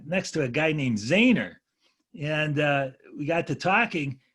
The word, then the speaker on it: Zener: the guy that developed the zener diode but he pronounced his name zainer so so my professor